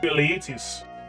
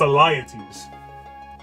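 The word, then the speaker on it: Alyattes: was telling that to eliitis who I believe was was wait was Atlantis a king Elites okay I was saying his name wrong it's a liatives actually hold on check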